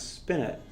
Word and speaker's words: spinet: we're going to play some music from us spin it that's how you pronounce this spin it this is a little bit site spent can